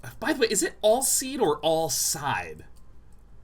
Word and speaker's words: Alseid: The Alseid is... By the way, is it Alseid or Alseid? Like, when I see S-E-I-D, I think of the comic book character Darkseid. That's spelled all weird.